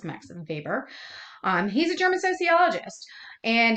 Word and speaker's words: Weber: That W is pronounced as a V. It's not Max Weber, it's Max Weber.